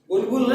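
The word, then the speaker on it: bulbil: Third लिखिए, बुलबिल of agave. बुलबिल, बुलबुल नहीं, बुलबिल।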